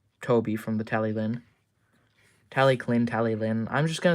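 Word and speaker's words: Talyllyn: looks like that and a lot of other people say tally Lyn uh but otherwise tally Clin is technically correct as well so Welsh names are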